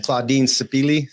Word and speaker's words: Claudine Sipili: But Claudine Sipili, am I saying it right?